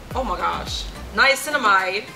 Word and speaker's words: niacinamide: It's a facial moisturizer, ultra lightweight, and it contains 3 essential ingredients, which are ceramides, niacinamide.